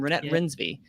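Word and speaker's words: Renate Reinsve: duh uh uh uh renee i believe pronounced her name rynette rinsby yeah get into that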